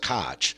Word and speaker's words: Koch: 1884 to 1890 sensing the quackery afoot Robert Koch or some pronounced Koch saw the same obvious flaw you see and